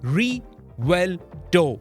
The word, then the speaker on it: Revuelto: the name Lamborghini Roberto re well dough that's how it is pronounced and in Spanish riverto